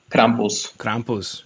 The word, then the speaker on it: Krampus: krampus is that how you say it krampus krampus yeah okay what an ugly dude feeding on